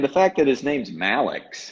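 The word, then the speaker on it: Mallex: And the fact that his name's Malix, how cool is that? Malix. Sounds like something out of a futuristic. On Pretty his much. baseball reference, it says, it rhymes with Alex.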